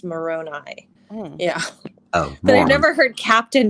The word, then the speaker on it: Moroni: part of this at one time said it's pronounced moroni but i've never heard captain before that's why